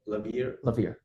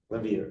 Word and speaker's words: Lawvere: How do you pronounce his name again? Oh, Lawvere. Lawvere, yeah.